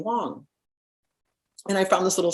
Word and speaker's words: Wang: he was very clear he said Wang that you see right there isn't pronounced Wang it's Wong it was very specific my name is